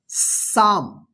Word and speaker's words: psalm: PSALM, इसको क्या पढ़ेंगे, साम। देखिए यहां पे ध्यान रखिएगा, इसका रूल्स क्या होगा कि एस से पहले पी रहता है, यानी पी के बाद एस रहे तो इस पी का साइलेंट रहेगा, नहीं उच्चारण नहीं होगा, ठीक है।